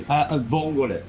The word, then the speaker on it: vongole: Vongole.